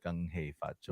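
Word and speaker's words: 恭喜發財: Gung hoi fa choi. Gung hei fa choi.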